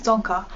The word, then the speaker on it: Dzongkha: be learning some songka the national language of bhutan or some people even call it bhutanese but the proper term is tonka so if you're planning